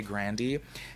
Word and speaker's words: Grande: the longest time i just would say ariana grande but come to find out she and some people in her family say grandy anyways y'all this video right here is kind